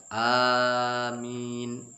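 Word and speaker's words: آمين: Amin di sini A-nya 2 ketukan, min, dan aminnya di situ boleh 2, boleh 4, boleh 6. Kebanyakan kita mengucapkan amin.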